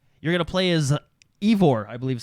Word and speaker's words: Eivor: So first off, you're going to play as Eivor, I believe is how you pronounce his name. Eivor? Yeah, Eivor. Or Hi, I'm Eivor. Yeah, I think that's how you pronounce his name.